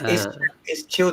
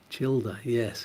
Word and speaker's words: Childa: It's Childa. It's Czech phonetic, like Spanish, and then we'll know how to pronounce it. Childa, yes.